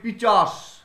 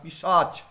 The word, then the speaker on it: পিশাচ: খুব বহুল প্রচলিত আমরা বলি পিচাস, অ্যাকচুয়ালি কিন্তু কথাটা পিচাস না, পিশাচ।